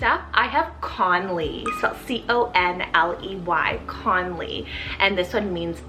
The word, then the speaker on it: Conley: strong bore next up i have conley cell c-o-n-l-e-y conley and this one means chast fire i